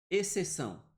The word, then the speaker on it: exceção: O XC, exceção, dígrafo. Esse X não está sendo pronunciado.